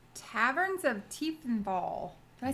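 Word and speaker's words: Tiefenthal: Taverns of Tiefethal.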